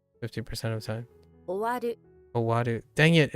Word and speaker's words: 終わる: Sawaru or something. No, Sawaru is to sit. Verb ending in rhymes with aru tend to be intransitive. Yeah. That only works like 50% of the time. 終わる Owaru.